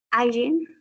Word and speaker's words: hygiene: En higiene, la primera I es griega, ¿listo? What is the pronunciation? Hygiene. I don't know. I don't sure. Hygiene. Hygiene. Como el hi del hello. So, hygiene.